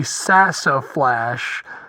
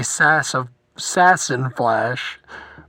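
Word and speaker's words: Sassaflash: at me I know her name is actually sassa flash but when I'm talking about her fastly I say sass sassin flash so yeah I I know I'm sorry I pronounced it wrong all right I'm out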